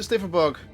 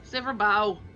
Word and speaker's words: Sliverbow: For mercy, they've yet wandered any closer to Sliverbug. Sliverbow. Wow. I said bug.